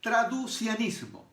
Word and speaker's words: traducianismo: Hay una, la primera de ellas, a mí me cuesta pronunciarla, pero se dice traducianismo.